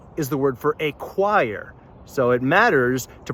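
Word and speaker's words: ĉo: The letter cho is a CH sound. Ch, as in church.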